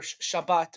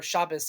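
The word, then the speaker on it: Shabbos: every Saturday or or Shabbat or chabas if you use the ashkanazi pronunciation um we take out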